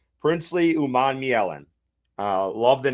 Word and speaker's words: Umanmielen: down in the Google Doc so I would pronounce this guy's name right. So it's Princely Umanmielen. Umanmielen.